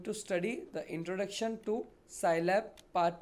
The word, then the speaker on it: Scilab: Scilab is pronounced as Sci, that is scientific, and Lab, that is laboratory.